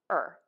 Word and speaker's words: are: more variation for this in fast connected speech i do hear a lot of people just saying er er just that er sound when they're connecting their words together you'll hear this a lot when people say um they're they're going somewhere instead of they are going somewhere all right let's give